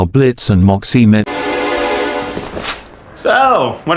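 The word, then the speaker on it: Blitzø: then we see how Blitz and Moxie met so what are you in for okay not much of a talker are we yeah I'm Blitz the O is silent now I'm sure we're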